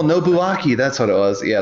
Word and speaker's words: Nobuaki: I don't remember in OBU a K o nobuaki that's what it was yeah that's right that's